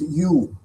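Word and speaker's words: ewe: a childbearing youu uh actually it's pronounced youu uh that's why if you have an an you before it you put uh a you don't put an uh like you put before vowels it is considered like a consonant the way you pronounce it so he gave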